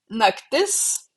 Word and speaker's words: naktis: Naktis, stress lands on the last syllable.